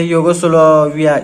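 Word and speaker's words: Yugoslavia: 1961 में इवो एंड्रिक जो कि यूगोस्लाविया के थे, यूगोस्लाविया इस तरह से इसका प्रोनाउंस करेंगे।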